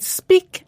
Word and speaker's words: speak: speak spoke spoken and speak and break are pronounced differently although they both have e a k at the end they do now another